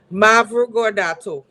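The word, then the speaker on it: Mavrogordato: the book Voices in the Street by Olga Mavrogado. Mavrogad. I can't remember how to pronounce her damn name. Mavrogad. It's in the tanks. Oh gosh. Mavrogodato.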